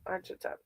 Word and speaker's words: Archita: So now every time I say ch, I'm saying k. Archita. That's a beautiful name. Archita.